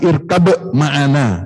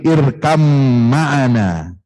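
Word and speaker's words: ارْكَبْ مَعَنَا: Quran surat Hud, ya, itu baca irkab, tulisannya irkab ma'ana, tapi dibacanya ba yang sukun itu tidak dibaca, ya. Ya, dia diidghamkan kepada mim, irkam ma'ana wala takum ma'al kafirin.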